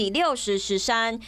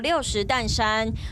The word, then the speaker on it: 六十石山: 所确定，该景点正确读音是 60 石山，不过过去乃念做 60 担山。